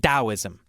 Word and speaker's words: Taoism: Why didn't we just spell it with a D?